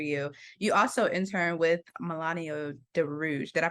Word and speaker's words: Milano de Rouge: opening doors for you, you also intern with Milano de Rouge. Did I pronounce it right? De Rouge? Milano de Rouge, yes.